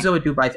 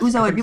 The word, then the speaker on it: Uzo Aduba: How do you pronounce her name? Uzo Aduba. I actually think that's right. Nice. Yes, Uzo Aduba.